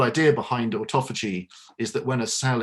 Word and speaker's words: autophagy: And is that because we are using this term now, orthophagy? I'm having trouble pronouncing it. Autophagy. Autophagy.